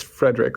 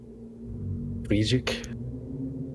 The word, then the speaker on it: Friedrich: It's Frederick, right? Or Friedgek? Friedrich. what is his name? Huh? Say it. Friedrich. Friedrich. It's a Okay. bit German, I would say, the pronunciation.